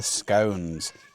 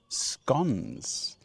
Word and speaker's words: scone: Now, after talking to a fair amount of people, it's finally time to enjoy our scones. Or in some parts of the UK, they are pronounced scons.